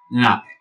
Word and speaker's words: Lenape: Is it spelled with an N, an L, an R? It's a little bit like trying to say all three sounds, to speak all three sounds at the same time. Lenape.